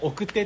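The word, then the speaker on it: 晩生: 的に言うと奥手男性って書いてこ奥手って読むんですけど奥手って言う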